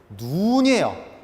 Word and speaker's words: 눈: 눈, 자, 길게 발음하셔야 돼요. 하늘에서 내리는 거면 눈이에요. 펑펑 내리는 눈을 바라보고 있어요. 자, 근데 이건 눈입니다. 눈 한자죠. 아우, 눈 아파 할 때는 짧게 발음하셔서 눈이에요. 아, 오늘 밤을 샜더니 눈이 따갑네. 눈이 따갑네가 아니라 눈이 따갑네.